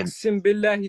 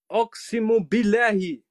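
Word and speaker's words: أعوذ بالله: Ochsen billahi ta'ala. Ochsen billahi, Ochsen von Billa, genau, Ochsen von Billa. Wie du das aussprichst, Oximo billahi. So wird das ausgesprochen, du Vogel.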